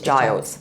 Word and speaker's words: Giles: Is it Giles or Giles? Yeah, it's Giles.